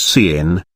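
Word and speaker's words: cin: proceed with C plus plus C in being pronounced as C in it is the standard input not output so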